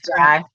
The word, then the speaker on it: Jai: Tisha Campbell and Paula Jai Parker, I think is the way she pronounced it. It's Jai.